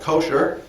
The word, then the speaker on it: kosher: In modern Jewish American, uh, it's usually called kosher. It's how it's usually pronounced with the accent on the first syllable.